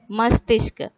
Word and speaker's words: मस्तिष्क: मस्तिष्क. अगेन म, स इज हाफली जॉइंड टू त, so it will be st.